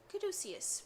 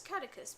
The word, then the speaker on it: caduceus: Caduceus, although, granted, at the time I thought it was catechus because I had no idea how to pronounce that.